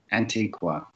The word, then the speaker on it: Antiqva: yes and and and is it pronounced antigua or antique wa antiqua okay gotcha i've been saying it